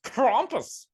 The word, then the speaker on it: Krampus: that's my rant about crompus is German so I'm sure it's pronounced crompus my accent sounds a